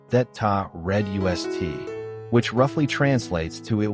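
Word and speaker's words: Þetta reddast: encapsulated in the phrase etst pronounced thata red us which roughly translates to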